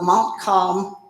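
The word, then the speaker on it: Montcalm: recently president young came from the presidency of Mont calm community college did I pronounce it right yes okay in Sydney Michigan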